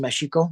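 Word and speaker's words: México: Mexico right um uh in Spanish name Meo really should pronounced mexiko that's actually where the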